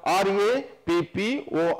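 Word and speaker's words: rapport: of the word now r a p p o r t is pronounced as rappo R and t are not pronounced like some of the other Words which are from the French Origin Now the options given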